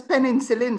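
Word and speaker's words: penicillin: off and she used to tell us it's peninsul so we must I heard that before yes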